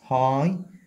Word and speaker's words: high: high احنا قلنا ال G H لا تنطق.